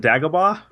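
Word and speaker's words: Dagobah: cool pin I want I want you to pronounce the uh the name though uh is it dagaba yeah it is actually yeah wow look at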